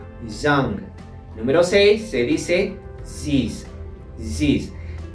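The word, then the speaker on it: six: número seis se dice zis zis en este caso la x se pronuncia como si fuese una s en el francés pasamos al número sete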